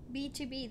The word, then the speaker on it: BTOB: B2B, that's how you say it.